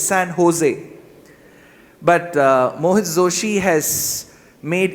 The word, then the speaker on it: San Jose: But the good part about Mojo is, unlike most other words start with J and O, should not be pronounced as Joe, it's Ho, it's San Jose.